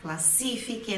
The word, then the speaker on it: classifica: Então olha olha também a sílaba tônica sílaba forte aqui é no se classifica classifica não é classifique quer tá classifica divisão